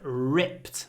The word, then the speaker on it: ripped: wears ripped jeans so ripped try to do a long R and a very short I before the unvoiced P Ri so it comes